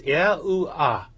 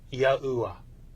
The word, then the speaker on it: YAHUAH: When these letters for God's sacred name are pronounced out together in their vowel forms, they would be pronounced as YAHUAH or YAHUAH.